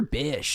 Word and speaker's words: Bisch: Hunter Bisch. Is that how you pronounce your last name?